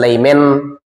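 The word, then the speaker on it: Lyman: এখানে লেখা আছে লিমেন, না লিখে কোথাও লেখা আছে লাইমেন, এটা কোনো সমস্যা নেই, হতে পারে লিমেন অর লাইমেন।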